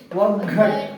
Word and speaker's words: ಒಗ್ಗಟ್ಟು: ಠು ಓ ಘ ಠು ಒಗ್ಗಟ್ಟು ಠು ಹೀಗೆ ಎಲ್ಲೆಲ್ಲಿ ಒತ್ತಾಕ್ಷರ ಇದೆಯೋ ಅಲ್ಲಿ ಒತ್ತಿ ಉಚ್ಚಾರ ಮಾಡಿ ಮಕ್ಕಳೇ ಮುಂದಿನ ಪದ ಮೊದಲನೇ ಅಕ್ಷರ